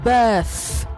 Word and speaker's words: birth: Einstein okay Einstein and it is birth birth rate not bet rate bet is a